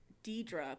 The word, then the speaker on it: Deirdre: It's Deidre. But it says Deirdre on Apple Music is how it's spelled.